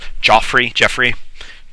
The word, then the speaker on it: Geoffrey: Jeffrey. It's spelled Joffrey.